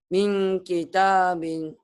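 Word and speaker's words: مِنْ كِتَابٍ: Min kitabin. Kenapa? Karena nun mati bertemu kaf. Apa hukumnya? Hukumnya ikhfa. Ikhfa dibacanya harus Harus eng dan ditahan.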